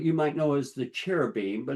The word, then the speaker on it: cherubim: And if you remember, the cherubim, or what you might know as the cherubim, but it's pronounced with a K, a keruv, is a type of angel.